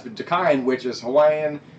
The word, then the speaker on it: Dakine: It's Dakine. This is a Hawaiian word.